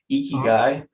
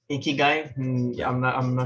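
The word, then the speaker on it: ikigai: of the concept i'm gonna probably butcher this pronunciation i'm sorry if you're japanese i'm listening to this icky guy i-k-i-g-a-i icky guy it's like it's a it's a bunch of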